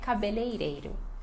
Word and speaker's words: cabeleireiro: é difícil, que é cabeleireiro. Cabeleireiro. Cabeleireiro. Reiro. Eu sei que este finalzinho aqui complica, né?